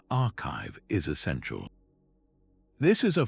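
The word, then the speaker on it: arXiv: For those who want to get even closer to the cutting edge, the RZIV website pronounced archive is essential.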